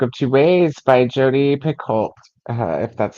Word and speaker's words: Picoult: Reading The Book of Two Ways by Jodi Picoult. If that's how you say that. I've never asked anyone how to pronounce her name. Picoult. It's like pickle. Is it? It's the T silent.